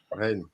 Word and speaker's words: Rennes: French, how is it pronounced? Rennes. Stade Rennes. Stade Rennes, yeah.